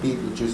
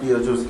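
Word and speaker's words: Betelgeuse: e u s e it is spelled that way but it's actually called Beetle Juice it's pronounced Beetle Juice either way and apparently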